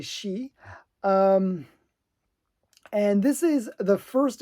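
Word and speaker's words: Shi: Because I would have said Psy, but it's actually She.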